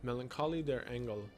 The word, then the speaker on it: Melancholie der Engel: Melancholie der Engel, which I took German class. Yeah, that's how it's pronounced.